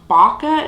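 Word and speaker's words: Bakwa: shade right here which which is pronounced baca if i'm not mistaken b-a-k-w-a uh but yeah it's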